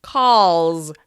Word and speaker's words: calls: Here's another: call. "Call" ends in the /l/ sound. L, l, l, l. Can you feel it vibrating? Yup. That means the third person singular should be "calls": calls, calls.